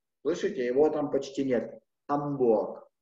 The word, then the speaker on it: Hamburg: «Hamburg». Я его выдыхаю, но не произношу. «Hamburg».